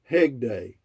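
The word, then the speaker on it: Hegde: My last name is pronounced Hegday, not Hedge.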